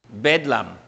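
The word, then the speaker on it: Bethlehem: Hace siglos en Inglaterra, Betlecam fue pronunciado Betlam y llegó a ser palabra de hablar de a personas no muy sanas.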